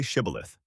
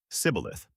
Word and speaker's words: Shibboleth: If he said, "No," then they said to him, "Now say Shibboleth." And he said, "Sibboleth." For he couldn't manage to pronounce it correctly, then they seized him and killed him at the fords of the Jordan.